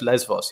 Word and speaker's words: Lesbos: bit the islands you have less force it's pronounced lesbos yeah exactly to be yeah yes so they're